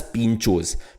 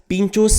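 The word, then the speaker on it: pintxos: is something which is known as Pinchos Pinchos spelled with an X now in s Sabastian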